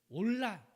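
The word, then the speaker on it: עולה: 앞에 올려 드리는 거예요 씹을 히어로 에 번제 는요 올라 라고 그렇게 발음합니다 올라가 뭐냐면요 우리 말하고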